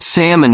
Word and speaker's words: salmon: Parker, kindly pointed out that my version of comfortable sounded more like comfortable, and I was convinced salmon had an L that needed to be pronounced.